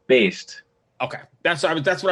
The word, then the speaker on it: Baest: really bad at uh it's pronounced Bast okay that's I that's